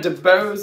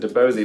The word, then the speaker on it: DeBose: putting on my alternates ariana debose if that's how you say it correctly i think i said debosey last time she danced and sang